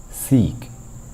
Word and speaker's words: seek: one is seek okay seek you have to stretch this syllable yes i seek to